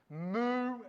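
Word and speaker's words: mu: to make in english moo and new all right m and r just like english k l m n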